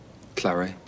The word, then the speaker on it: claret: Don't you pronounce it claret? You pronounce the T, just as in fillet.